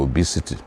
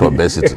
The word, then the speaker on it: obesity: People as young as um six years suffering from obesity. That's how you pronounce it. Not obesity. Yes. For many years I was calling it obesity was my own.